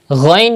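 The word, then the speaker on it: غين: Ghain is pronounced from the top part of your throat, the top part. Ghain. And you have to read with thicker voice because it is also from Mustaliya letters.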